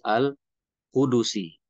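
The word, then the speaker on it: قدسي: Nah, jadi ternyata pelafalannya bukan kudusi tapi kudusi. Al-hadis al-kudusi ya, kudus. Itu ya. Jadi huruf dalnya itu bunyi ya. Bunyinya domah. Jadi dibacanya al-kudusi, hadis kudusi.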